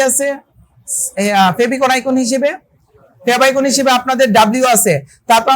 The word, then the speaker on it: favicon: তো এই যে লোগোটা, এই লোগোটাকে আমরা বলতে পারবো হচ্ছে আমরা ফেভ আইকন। ফেভ আইকন বলতে পারবো। এর বানানটা কি?